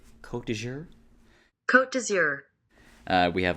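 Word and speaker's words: Côte d'Azur: On the cover it says, "Bring your dreams to Kot Dour and the French Riviera." I did have to look this up and also look up the pronunciation. And I hope I got it right. Kot dour.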